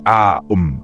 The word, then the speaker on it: Om: Mantra 1 OM proncé AOM 108 répétitions.